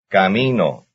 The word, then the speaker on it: camino: And here's another very similar word having its stress on the second syllable. 8. Camino.